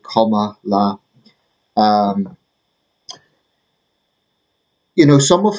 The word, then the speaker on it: Kamala: uh comma takes charge apparently it's pronounced comma like comma La um you know some